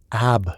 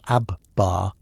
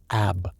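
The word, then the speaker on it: آب: "Ab," she repeats for the 15th time. "Water." Not ab-bar, not ab, just ab. You're adding syllables that don't exist. You try again. Ab, better.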